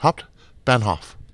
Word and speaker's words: Hauptbahnhof: There's only three syllables. Hauptbahnhof.